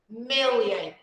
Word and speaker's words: million: Million, million, the first, okay?